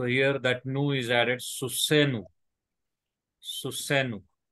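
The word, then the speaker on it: סוסנו: So here that nu is added, susenu. Susenu. Note that accent is over the last syllable only. Accent is not shifted to pronominal suffix.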